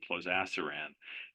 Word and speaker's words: plozasiran: I guess maybe like inclisiran, maybe so the pronunciation should be plozasiran.